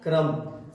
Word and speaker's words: crumb: बताइए आप spelling knowledge. KNOWLEDG knowledge यानी ज्ञान। क्लाइम। CLIMB क्लाइम यानी चढ़ना। क्रम। CRUMB क्रम यानी टुकड़ा।